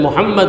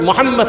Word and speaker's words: Muhammad: See, when we pronounce the sacred name of our Prophet Muhammad sallallahu alaihi wasallam, our two lips join together.